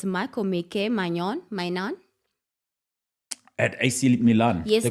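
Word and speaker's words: Maignan: Please tell me if I'm pronouncing his name correctly. It's Michael Mainan. At AC Milan. Yes, The darling, goalkeeper. the goalkeeper. How do you pronounce his, Isn't Magnan? it's Maiganon.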